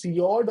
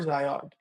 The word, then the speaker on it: Zyod: And Zyod has just two pronunciations, Zyod or Zyod, across all the global languages.